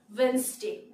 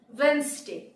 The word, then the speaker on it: Wednesday: And the next one is Wednesday, Wednesday, বুধবার। আমরা বলে থাকি Wednesday, কিন্তু এখানে D হচ্ছে উচ্চ থাকবে, D এর উচ্চারণ হবে না, Wednesday, Wednesday.